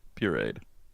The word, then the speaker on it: pureed: Yeah, pureed.